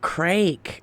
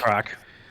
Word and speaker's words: craic: But can you spell it? Is it CRAG? What's the crag? No. CRAIC. Oh, crake. Okay. Oh wow, crake. What's the crake? What's the crack?